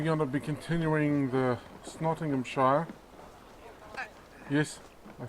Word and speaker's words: Nottinghamshire: And we are in this episode we're going to be continuing the Nottinghamshire. Yes, I said it right. Nottinghamshire story arc.